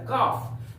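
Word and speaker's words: calf: सी ए एल एफ याद रहे एफ के पहले एल रहे तो एल का उच्चारण नहीं किया जाता है हम लोग पढ़ेंगे सी ए सी ए एल एफ काफ काफ का अर्थ होता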